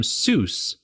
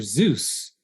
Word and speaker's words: Seuss: He he himself noted that it rhymed with voice, his own pronunciation being so.